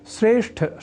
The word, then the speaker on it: श्रेष्ठ: वस्तुतः यहां अर्थात श्रेष्ठ शब्द में ठ इस महाप्राण अक्षर का उच्चारण व लेखन लोग ट इस अल्पप्राण स्वरूप वाले अक्षर से परिवर्तित कर दिया करते हैं।